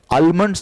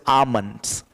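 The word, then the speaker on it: almonds: Pronunciation ध्यान में रखना, यहाँ पे एल जो है वो साइलेंट है, आलमंड्स नहीं बोलते, इट is called as आमंड्स, आमंड, Delhi आमंड.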